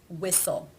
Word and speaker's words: whistle: There are some words that are just written with a silent T. For example, Christmas, whistle, mortgage. These unfortunately just need to be learned.